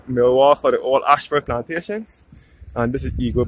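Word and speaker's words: Ayshford: Ashford is spelt A-Y-S-H-F-O-R-D.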